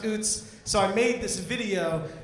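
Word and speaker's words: Utz: I'm sure most of you probably say it Uts. And I was trying to convince him that it was pronounced Oots.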